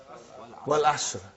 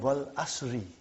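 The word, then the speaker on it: والعصرِ: What is the first ayah? Wal Asr. Have you ever noted down what is written there? It's called Wal Asri.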